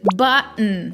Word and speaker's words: button: Mountain, certain, important, Manhattan, button.